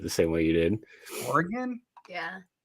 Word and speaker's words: Oregon: Cody, people pronouncing Oregon? Isn't that how you say it? Usually people say Oregon.